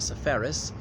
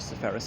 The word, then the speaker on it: Seferis: now behind me is the house of Geass sephorus it's also the Greek embassy here in London I'm a Brook Street so he's known as Georgia Farris in English but anyway I'm just pronouncing at